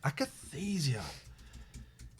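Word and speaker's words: akathisia: um but it's just it's freaking exhausting man akatheesia akathesia akathesia akinesia acathasia i do apologize thank you akathesia akathesia there we go thank you um so uh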